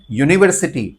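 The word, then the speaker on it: university: आगे एन नहीं लगेगा नेक्स्ट है यूनिवर्सिटी हम बोलेंगे यूनिवर्सिटी इट्स नॉट यूनिवर्सिटी हम य से बोल रहे हैं यूनिवर्सिटी इसलिए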